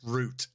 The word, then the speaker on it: route: He's like, it's pronounced root. Oh, go kill yourself.